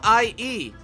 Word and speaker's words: Hallie: My name isn't Haley. How do you say it? It's Hallie. How the hell do you pronounce that then? Hallie. Holly? Holly? Is it pronounced like Holly? Holly, like Halle Berry?